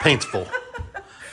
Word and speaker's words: Paintsville: say Paintsville Paintsville Paintsville Paintsville I say Paintsville but they say it like that painsville anyway um so Friday